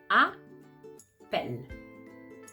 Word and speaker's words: appelle: If you hear it, you're gonna hear appelle. Okay, so two syllables. And in the second syllable, we have the sound p and the sound e and the sound l.